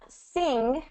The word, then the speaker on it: sing: You don't fully pronounce that G at the end. It's more back of the throat, ng.